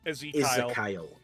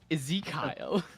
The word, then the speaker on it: Ezekiel: No, Izzakyle. Oh, Izzakyle. What? Ezekiel.